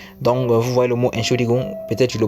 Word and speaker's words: Entschuldigung: Nous avons le mot Entschuldigung a 4 syllabes en tout. On a la première syllabe qui est ent, la deuxième syllabe qui est schul, la troisième syllabe qui est gung.